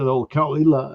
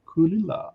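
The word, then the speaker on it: Caol Ila: I remember Lynn McEwen, how he pronounced Kulila. Like we said, Kalila, and said Kulila. It was so charming. Like Kulila, something like that.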